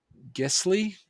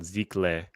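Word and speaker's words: giclée: also get a sticker pack and um uh gistly print did i say that no it's uh i just actually learned how to pronounce it it's called ziklay it's secret i think i have one in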